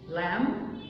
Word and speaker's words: lamb: يعني مثلا هنا لو عندي word ending منتهيه ب MB تبقى البي سايلنت، like come, lamb, climb, down. come, lamb, climb, down. فلو الword الكلمه منتهيه ب MB البي سايلنت.